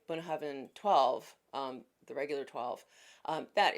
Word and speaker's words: Bunnahabhain: Now, Bunnahabhain, and I hope I'm pronouncing that correctly, that's how I was taught to pronounce it. Bunnahabhain, Bunnahabhain, Bunnahabhain.